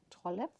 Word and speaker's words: Trolle: So if you have books of Maria Trolle, that's how I heard it is pronounced correctly, Trolle.